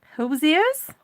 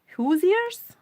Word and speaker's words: Hoosier: Hosiers? Hosiers? Kelly's trying to help me pronounce the word for Indianans. Hoosiers?